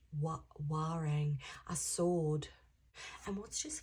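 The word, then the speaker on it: Warrane: I think it's W A R R A N E but it's pronounced Wang.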